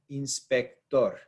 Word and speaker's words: inspector: one we've got Inspector Inspector we stress the last syllable here inspector is when